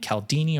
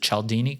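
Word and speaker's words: Cialdini: There's another great book by a guy named Calaldini or I think he pronounces it Chelini called influence which I recommend to people.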